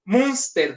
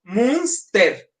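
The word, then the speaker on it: Münster: Munster como monstruo. Munster.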